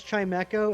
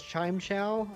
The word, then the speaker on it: Chimecho: We used to pronounce Chimeco as ChimeChow. Uh but now that you look at it, kind of makes sense. Yeah, because it's a chime and sounds make an echo.